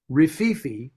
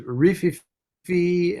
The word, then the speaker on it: Rififi: Do you know that Rififi, which is how I say it, although I've heard it pronounced as Rififi and all these other, you know, things, but